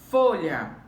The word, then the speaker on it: folha: Folha. Folha, temos como sílaba mais forte fó.